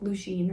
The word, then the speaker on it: Lucian: I'm gonna choose to pronounce it Lucian, even though in like Akatar I think it's like Lucien or something, but this is spelled differently from that anyway.